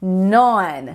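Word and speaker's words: known: past participle vai ficar non non ó o som aberto tá vendo non e a gente não fala esse k no início tá não é não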